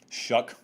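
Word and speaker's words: Shough: debate about it too shuck just ignore the spelling mr shuck was 21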